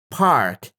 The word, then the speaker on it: park: So if you feel the puff of air, you're saying it correctly.